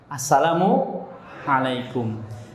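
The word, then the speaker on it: السلام عليكم: kabarnya Alhamdulillah Halo assalamualaikum ingat ya salamnya pakaiin assalaamu alaykum kalau kita terbiasa dadanya kalau kita terbiasa salam pakaiin nanti Bacanya apa baca al-fatihah pun kena airnya Salamualaikum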